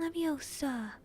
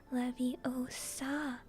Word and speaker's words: Leviosa: either when the guardian leviosa he shouted waving his arm long arms like a windmill you're saying it wrong harry's heard hermione snap it's when guardian leviosa make the car nice and long you do it then